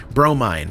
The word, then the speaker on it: Bromine: train, Dave Herald, Wisecube, Bromine pronounced bro mine mine hamding dinga mother